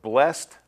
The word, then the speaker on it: blessed: pronouncing some of these the ending sounds of blessed flocked is pronounced more like a tea than a d pulled control called and